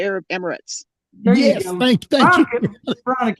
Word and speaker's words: Arab Emirates: Arab immigrants. How do you pronounce that? Yeah, you done messed it up. Huh? Yeah. The Arab Emirates.